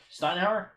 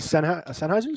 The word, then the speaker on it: Sennheiser: Yeah, Steinhauser's. Or I think that's how you say it. Steinhauer? It's probably Sennheiser's? Sennheiser.